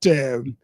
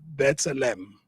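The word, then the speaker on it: B'Tselem: And then you've got Bethlehem. I always pronounce it wrongly. It's Bethlehem.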